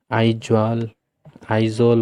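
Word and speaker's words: Aizawl: Spelling याद रखना इसमें, आइजॉल बोलते हैं।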